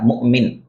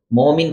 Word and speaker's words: مؤمن: Number 4 مؤمن. یہ اصل اس کا تلفظ ہے مؤمن، لیکن ہم اس کو عرف میں مومن کہہ دیتے ہیں.